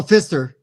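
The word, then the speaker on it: Pfister: Oh, Fister. I think I think it No. What you who did broom service freaking Fester did? Don't doubt me on designers. I'm telling you. Uh, Alexander Fister.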